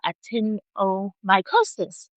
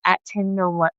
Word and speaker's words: actinomycosis: So, today we're going to be talking about actinomycosis.